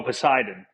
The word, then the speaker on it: Poseidon: And just make sure I'm pronouncing that correctly. What's the engine called? Oh, Poseidon.